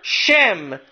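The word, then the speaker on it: שֵׁם: In Hebrew, it's spelled Shin Mem, which is very, very ironic. There in Hebrew can also be Shem, name. Sham, there, Shem, name.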